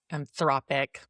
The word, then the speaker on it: Anthropic: And Andrea not only led the charge on the famous lawsuit against Anthropic Anthropic, is that how you pronounce it? Anthropic.